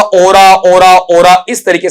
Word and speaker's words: Aura: एक्चुअल में ये word आप गलत बोलते हैं, इसका उच्चारण है ओरे, ओरा नहीं बनता है बेटा, क्या बनेगा, और है। ये आ की बजाय लास्ट में ए का साउंड देगा, इस तरीके से ओ